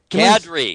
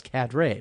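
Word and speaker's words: Kadrey: But Richard Cadre. Am I doing that right? Cadre. There it is. Cadre. See, forever thought it was Cadre because I'm from the Midwest, you see, and I want to do everything phonetically.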